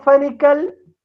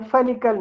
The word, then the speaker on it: Fenichel: Otto Fenichel, Lara me dice que diga Fenichel, no Fenichel.